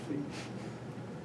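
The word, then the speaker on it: phi: some businesses who are silly enough to say feet a lot of these people mostly people know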